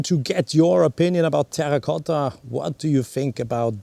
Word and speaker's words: terracotta: the typical color of terra cotta i do pronounce it in italian because terra carta or any other pronunciations is probably not the way one should pronounce terracotta softly pronounced no are you